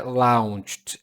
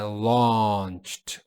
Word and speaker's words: launched: Importante aqui, ó, não é launched, é launched, law. Então esse au é pronunciado como la launched launched.